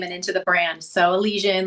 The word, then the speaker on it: Elysian: So Elysian. And Okay, I was going to pronounce it Elysian.